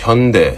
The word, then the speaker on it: Hyundai: Where are you getting that extra syllable from? The only people that are mad about this raid in Elabelle, Georgia at the Hyundai mega site. It's Hyundai.